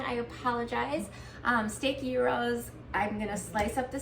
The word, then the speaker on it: gyros: Steak gyros.